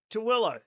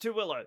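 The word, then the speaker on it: Tooele: Towilla. Yeah. T O O L E. It's a city here in in Utah. It's pronounced Tilla. Nobody knows why.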